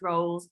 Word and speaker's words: Roles: the pod roles pronounce roles like a rolls royce just for all of